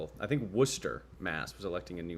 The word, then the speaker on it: Worcester: Um I'm the only content creator that can pronounce Worcester correctly. I grew up in Worcester County, so I I cheated.